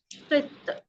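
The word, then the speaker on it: قط: Now, qit, kaf and ta. Qit. Let's take here. Yes. Jamila. Jamila, tell me. Qat. Sorry, it is kaf, kasra, qit.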